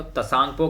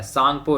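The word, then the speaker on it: Tsangpo: कि जो तिब्बत है वो तसांगपो के नाम से जाना जाता है। सांगपो रिवर, क्या सांगपो रिवर के नाम से जाना जाता है, टी साइलेंट होके सांगपो रिवर के नाम से जाना जाता है इसको।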